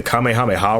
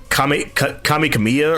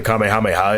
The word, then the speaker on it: Kamehameha: was a lot of people pronouncing the Kamehameha wrong they're saying like Kam Kam Kamya or whatever they were saying and it was to